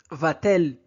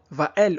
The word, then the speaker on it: va-t-elle: Donc sans le T, la phrase hein, va-elle au marché donc serait très difficile à prononcer à l'oral. Le T donc sert juste de pont sonore entre le verbe et le pronom.